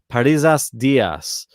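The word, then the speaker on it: Parrizas Díaz: Parisas Diaz is her name.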